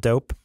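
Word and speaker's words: Doughp: There's this place at Pier 39 in San Francisco called Dope, but it's spelled D-O-U-G-H-P, like cookie dough. Dope.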